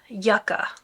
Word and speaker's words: Yucca: pronunciation errors but yeah it actually is Yucca not Yuka so anyway the other